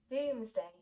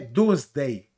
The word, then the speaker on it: Doomsday: una m corta en en inglés se alarga y se da potencia en la última sílaba doomsday ve doomsday day se matiza la